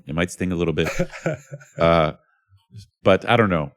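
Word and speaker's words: Pai: Uh this one is called White Guy in Pi Pi, but it's actually pronounced Bi, but you know the little town up in Mihong province that's gotten a lot of press lately, right?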